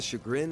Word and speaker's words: chagrin: I've been mispronouncing chagrin. Oh, son of a bitch. That was like a harder emphasis on the fucking cha part. No, it's sha. Actually, let me double check because I'm going fucking crazy here.